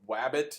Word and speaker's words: Wabbit: on your smartphone called wabbit it's like rabbit spelled with a W um or also on